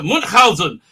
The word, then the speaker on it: Munchausen: I pronounced your name correctly. I do like the adventures about Munchausen. That's how I learned to pronounce it. I learned to pronounce it from Jonathan Pryce, who said it very, very well in that movie, which he hated being in.